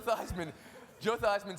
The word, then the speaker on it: Theismann: So you have to ask yourself if you trust somebody whose last name he changed to rhyme with a trophy in college.